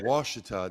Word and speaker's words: Ouachita: Oh, Ouachita. That's right. That's right. That's right. It's spelled Ochita.